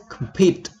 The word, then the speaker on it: compete: first question is compete you can see the phonetic symbol here um come pit where is the stress is on the second compete compete compete okay what does it mean